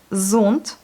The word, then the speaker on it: зонт: Z, zont, parapluie. Zont. Voilà, là aussi, vous voyez, on a le O accentué, donc c'est le O qu'on prononce, zont. A, B, V, G, D, Y, Yo, G, Z, I, on n'a rien.